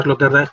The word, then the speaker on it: Sloterdijk: Se pronuncia Sloterdijk porque es de origen holandés, ¿vale? Si fuera un nombre alemán tendríamos que decir Sloterdijk, pero al ser de origen holandés la pronunciación es Sloterdijk, ¿no?